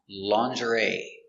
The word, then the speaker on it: lingerie: for Colonel this word has a strange pronunciation because it comes from French and it is pronounced lingerie lingerie is not countable